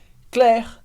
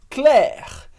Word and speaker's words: Claire: super importantes do francês primeiro que as letras i como Regra geral vão dar o som é como se fosse em português escrito e é por isso